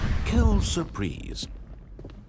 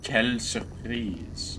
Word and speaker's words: quelle surprise: Quelle surprise. It's quelle surprise. Jeez. If you're gonna speak French, pronounce it correctly, narrator.